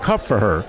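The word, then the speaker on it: Kupferer: We're here with the Best Actor nominee for Ghostlight, Keep Cup for Her.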